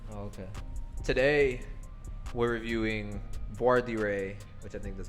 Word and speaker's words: Voir Dire: It's like Voir Dire. Voir Dire.